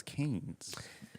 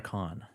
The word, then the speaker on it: Cannes: the place, much like Cannes movie premieres tend to be. That's how it's pronounced. I thought it was Canes. Nope.